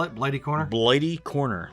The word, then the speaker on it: Blighty: makes um some military reproduction things what's the spell it blighty corner blighty corner like bladey as a wound it's a